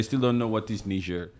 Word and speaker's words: Niger: don't know what is ner they think that you're just pronouncing Nigeria wrong yes you say no there's a nerian and there's a Nigerian yes two different people they look alike they